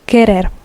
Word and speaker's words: querer: Again, remember the U is not pronounced querer.